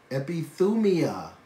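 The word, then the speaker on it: ἐπιθυμία: Epithumia. That's the Greek pronunciation of the Greek word.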